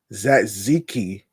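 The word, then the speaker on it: tzatziki: lettuce, tomato, and and zatziki sauce inside a pizza bread. Now, I didn't pronounce the T word. I the T letter. I think the T is silent. I think the T is silent, actually.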